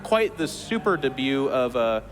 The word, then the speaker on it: debut: not quite the super debut of uh that's a French word de it's the t is silent could be debut but in a no it's debut debut de uh anyways beyond